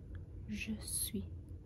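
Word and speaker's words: je suis: we say I'm I'm so in French you might hear a kind of sound like sweet but you say I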